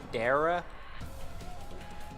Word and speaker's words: Dara: a different story though is it dara almost like sarah but with a d i think you said yep got it right check that out oh